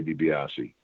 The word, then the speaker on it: DiBiase: So that's why a lot of people would say DiBiase, because they'd heard it that way before. But I mean, technically, you would say DiBiase.